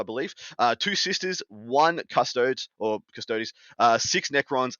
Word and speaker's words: Custodes: all yeah yeah look i got told i've been told off uh quite a few times for the way i pronounce custodes apparently there's custod days yeah it's custodial custodians